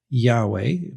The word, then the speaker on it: Yahweh: That name is the is the letters YHW in Hebrew, traditionally pronounced Yahweh.